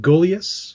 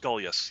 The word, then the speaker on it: Gulyas: So I'm just going to make sure that is it Gulyas? Gulyas, yeah.